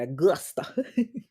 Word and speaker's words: Augusta: You got to say it like that, Augusta.